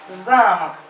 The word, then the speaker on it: замок: А замок, ударение на А, замок.